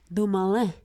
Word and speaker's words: Dumoulin: Yeah, you got to learn how to say it right, too. Dumoulin. That is actually correct, yes.